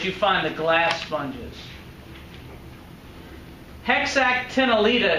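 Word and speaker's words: Hexactinellida: find the glass sponges heck sak ten aletta is how you pronounce that but you're right I'm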